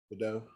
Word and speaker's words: Gadot: So when they say Gal, I always say her last name wrong. Gal Gadot. Yeah, there you go. Gal Gadot.